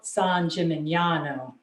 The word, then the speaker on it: San Gimignano: San Gimignano. Okay, let me try it. San Gimignano.